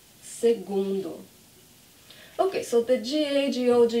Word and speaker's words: segundo: first one is algonz so the gu is this gu sound segundo segundo okay so the g-a-g-o